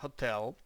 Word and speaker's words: hotel: склади тобто слово перше готел наголос саме на другий склад а не на перший хоча ви можете почути у пісні Welcome to the hotel California і всі це